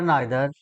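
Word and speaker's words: neither: Each, every, आइदर, नाइदर या ईदर नीदर भी इसका उच्चारण होता है।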